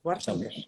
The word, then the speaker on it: Wartenbergh: Lo has pronunciado perfectamente, O sea, Wartenberg.